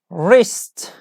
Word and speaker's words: wrist: that's the correct answer we don't pronounce W like wrist wrist okay W and our